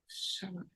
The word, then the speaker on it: Chalamet: Okay, how do I spell it? Chalomet. CHA. Lomet. Chalamet. And his Timothy has extra E's at the end.